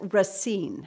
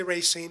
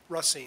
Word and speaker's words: Racine: So our new finance director, I've said your name wrong. It's Racine. Racine, yeah. Racine, okay, Right. thank you. It's easy to say Racine, but it's Racine.